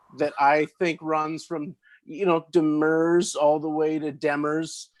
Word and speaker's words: Demers: said Josiane Demers, and Josiane said Demers, and the teacher said no, Demers. Only people from France will correct you on the pronunciation of your own last name. But you just kind of you pick your preferred anglicization, and so we've always in my family we've gone with Demers, but there's an accepted